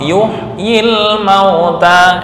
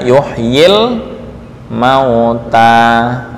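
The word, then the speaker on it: يحيي الموتى: ini dihapus alasan tertentu Apa alasannya karena bertemu dengan huruf mati yang berdampingan yuhyi ini y-nya dihapus kemudian Alif juga di buang ya jadi seolah-olah cara membacanya yuh yuh ini cara membaca ya yuhyil mauta Langsung Ya lamnya Sukun yuhyil mauta yuhyil mauta contoh Ya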